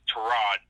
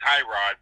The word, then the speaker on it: Tyrod: to Rod Taylor and it's Tirat not Tyrod we've been saying it wrong all these years that's toe rod to Rod Taylor is